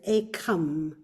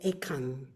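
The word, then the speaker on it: ekaṃ: And fortunately, you approve, and I can never pronounce that as Ekam. I will always pronounce that with the Anuswara, the Ekam.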